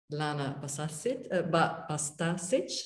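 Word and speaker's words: Lana Bastašić: Lana Bastasic, that's the way to pronounce it, Catch the Rabbit.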